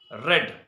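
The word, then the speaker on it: read: लगाइए, we shall have रेड, we shall have रेड। रेड हमारा क्या है? थर्ड फॉर्म है रीड का, स्पेलिंग सेम होगी, जो रीड की है वही रेड का हो जाएगा।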